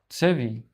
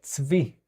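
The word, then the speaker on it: צבי: Tsevi. Yes. And it will be without the A. Ts-vi.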